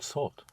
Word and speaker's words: sorte: Quelle sorte? Right. Quelle sorte? Sorte. Quelle sorte? Quelle sorte? Quelle sorte? Sorte is spelled S-O-R-T-E.